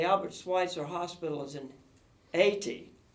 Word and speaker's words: Haiti: Schweitzer hospital is in 80 you're not supposed to pronounce the H I found out it's 80 right let's just go